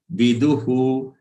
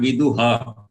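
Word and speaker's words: विदुः: Rajar shayo viduhu. The visarg at the end of du is to be pronounced as hu and not her. It is not vidu ha. It is vidu hu.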